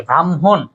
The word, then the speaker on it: ব্রাহ্মণ: কিন্তু উচ্চারণের পরে আসে ব্রাহ্মণ এটা যুক্ত বর্ণতে উচ্চারণ করলে হ প্লাস ম হয় কিন্তু উচ্চারণে ম আগে আসে হ পরে আসে চলিষ্ণ চলিষ্ণ না চলিষ্ণু